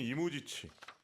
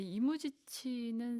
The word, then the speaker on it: 이무지치: 그러니까 우리는 이무, 지치 이런 식으로 좀 발음들을 많이 하시는데 이무지치 이런 어떤 복수형의 음악가의 이름을 이야기를 하고 있고요.